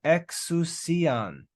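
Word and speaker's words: ἐξουσίαν: He gave to them exousian. Exousian. This squiggly crazy letter is a xi. It's pronounced like an X.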